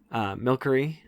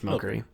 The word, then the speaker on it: Milcery: Milcery, I think that's how you say it. Milcery, yep. Milcery. I think it's Milcery. There's no K, but, Milcery.